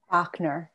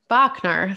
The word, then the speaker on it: Bachner: have with me kate and i'll have you pronounce her last name for me bachner bachner thank you very much and kate bachner has